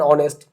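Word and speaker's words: honest: যেমন অ্যান অনেস্ট, এইচ এর উচ্চারণটা এর মতো, অ্যান আওয়ার যখন বলতেছি এখানে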